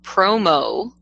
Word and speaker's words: promo: Remember, promo rhymes with grow.